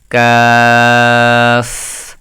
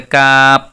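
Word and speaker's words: قاف: আমি এটাও লিখে দেই কেউ যদি বলে ককার কাপও কাপ এটা কাপ পিরিজের কাপ নয় এটা ভুল হবে কি কাফ এই কাফ হবে এটা শুদ্ধ এই জায়গায় আমরা সবচেয়ে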